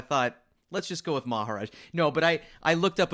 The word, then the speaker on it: Maharaj: And Maharaj is here. Did I say that right? Yeah, you said it right.